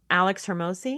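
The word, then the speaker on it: Alex Hormozi: Alex Hermosi.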